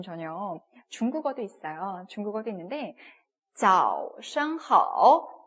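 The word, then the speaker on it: 早上好: 중국어도 있는데, 早上好, 早上 하면은 아침이라는 표현이에요. 그죠? z 발음 나서 早 그리고 시 발음과 ang가 합쳤습니다.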